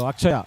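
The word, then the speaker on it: Atchaya: So Akshaya actually is what the name is, Akshaya. And it is written as A-T-C-H, Akshaya. That's how it is written in Tamil, where there's no sure pronunciation.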